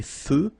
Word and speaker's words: feux: So here final X not pronounced. Des feux de circulation.